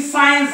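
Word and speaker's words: science: आता बघा ही spelling सायन्स आहे तर इथं सी चा उच्चाराने सायन्स सायन्स राईट एस नंतर आय सायन्स एसेंट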